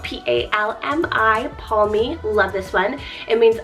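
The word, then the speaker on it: Palmi: Keeping on this nature train, we have the name Palmy, spelled P-A-L-M-I, Palmy.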